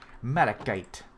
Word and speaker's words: malachite: Malachite, which apparently is the correct pronunciation. Malikite.